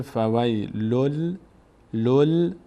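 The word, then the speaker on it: فويل للذين: این تشدیدی که روی لام می‌بینید به خاطر تبدیل شدن این نون به حرف ما بعد هست. الان اینجا این نون دیگه تلفظ نمیشه. ما لامو با اون ضمه اولیشو می‌چسبونیم به این میشه فویل لل نون رو دیگه ما لام تلفظ می‌کنیم فویل فویل فویل للذین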